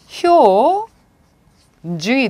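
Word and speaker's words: 標準: 표준 효 중이 돼요. 효중.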